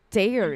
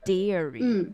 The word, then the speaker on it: dairy: day and it's a today's topic is Da Dairy yeah good job Jingo yeah I need to remember this pronunciation dairy dairy D Dairy all right everybody watch out